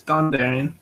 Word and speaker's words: Dondarrion: we've also got our Commissioner Lewis of House Dondarrion I'm never gonna pronounce that right yeah it's Dondarrion barometer I'm ready yeah I don't know I